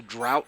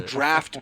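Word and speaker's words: draught: They're fucking draft beer. Drought. It was like drought. Yeah. A drought. I didn't because fucking D-R-A-U-G-H-T apparently makes a fucking F sound in English.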